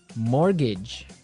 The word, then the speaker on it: mortgage: So this is a funny word. I mean, there's this strange mortgage with a T.